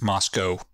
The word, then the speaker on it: Moscow: the University of Idaho and it is pronounced pronounced Moscow Moscow Moscow yeah they want to differentiate themselves